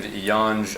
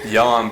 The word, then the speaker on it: Yan: It sounds like yummy. It sounds Yummy. like what? Sounds like what? Yummy. Yeah. So I was watching Yan, bro, and I watched the Esparza fight.